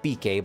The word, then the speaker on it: Bikke: will address Mia's bike some pronounce it BK but I pronounce it bike what business have ye